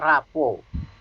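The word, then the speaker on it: rapport: menciptakan kedekatan dalam NLP disebutnya rapuh baiknya tulisannya raport tapi bukan raport anak sekolah ya bacanya Rapuh Hai teman-teman ya apa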